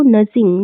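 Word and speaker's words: nudging: तो जो आरबीआई है वो नजिंग, नजिंग करने का मतलब होता है आपका, देखो इसमें डी साइलेंट रहता है। ठीक है, तो इसको नजिंग पढ़ते हैं।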